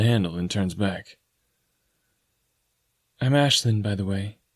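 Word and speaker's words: Aislinn: and turns back I'm Ashlin by the way it's spelled a i s l i n n but you say it like Ashlin oh I say awesome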